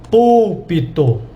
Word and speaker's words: púlpito: Ó, púlpito.